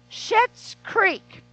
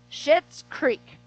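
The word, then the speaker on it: Schitt's Creek: hooked on and it's called shit's creek it's spelled s-c-h-i-t-t-s so just so you know reverend kathy is not up here cussy the show is literally called shit's creek it has every walk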